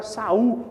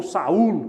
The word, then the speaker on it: Saúl: primeiro rei de Israel, que era Saul, ou Saúl, como ele gosta de ser pronunciado, Aqui, a assinatura, vamos já partir para o segundo subtópico, a assinatura apostólica.